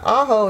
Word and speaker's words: Ajo: a little town called Ajo Arizona and uh aho is spelled Ajo and it's right at the